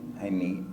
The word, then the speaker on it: Jaime: How do you pronounce Jaime? Jaime, J-A-I-M-E, Jaime.